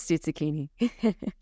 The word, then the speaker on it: Stuzzichini: And so Stuzzichini, what is Stuzzichini? Good question. And you're pronouncing it very well, which is impressive because that is usually the first question I get.